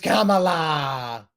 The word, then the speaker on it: Kamala: It's Kamala. When the opponents spend more of their time trying to correct how to pronounce novel names and spending less time on